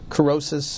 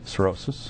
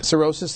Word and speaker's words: cirrhosis: death from alcohol-related liver carosis uh have i pronounced that correctly cirrhosis cirrhosis thank you has risen since 2003.